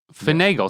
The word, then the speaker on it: finagle: So what is the official pronunciation, Jamie, of finagle? Well, I got it right here. Oh, you got it. Finagle.